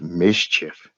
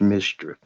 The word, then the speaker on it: MSCHF: that's bogus now this company mschf which is pronounced mischief mschf pronounced mischief is from brooklyn new